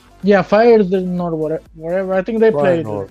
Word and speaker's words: Feyenoord: I don't know how to pronounce it. Oh, it's Feyenoord. Yeah, Feyenoord, whatever.